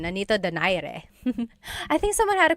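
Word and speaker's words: Nonito Donaire: So, our first poll here is going to be Mani Pacquiao versus Nonito Daire or is in in the Tagalog uh pronunciation. Nonito Dire.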